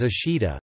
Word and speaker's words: 明日: Likewise, ming tomorrow is Jukujikan, and read neither as akari no hi, the kuniomi of the characters, nor menichi, the aniomi of the characters, nor any combination thereof. Instead it is read as ashida, a native multisyllabic Japanese